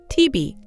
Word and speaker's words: 티비: hàng ngày, hầu hết người Hàn Quốc nói ‘티비’. Đây chỉ là cách phát âm tiếng Hàn của các chữ cái đầu tiên ‘TV’ trong tiếng Anh.